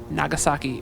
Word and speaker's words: Nagasaki: So we're taking off from Nagasaki Airport. Nagasaki Airport. It's got a K, not a G, despite my American attempt to pronounce it differently.